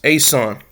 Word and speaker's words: Esan: The Ean people pronounced Asan and there's a reason